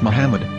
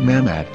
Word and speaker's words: Muhammad: ben yehuda's hebrew english dictionary it is correctly pronounced as muhammad not mahmad so how we're going to know for sure